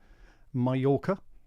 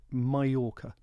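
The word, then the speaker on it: Mallorca: a wonderful trip in Mayorca. I think that's how they say it, isn't it? Mayora, the locals.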